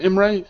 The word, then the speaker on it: Imre: Imre, is that pronounced right? Imre? Yeah, that's right.